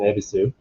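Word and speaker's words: Yebisu: the ebisu brand uh the y is silent it's an ebisu and it is a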